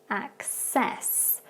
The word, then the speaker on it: access: So with the first one, if you listen again, it's access. So with that C sound, it becomes more like a K and an S at the beginning instead.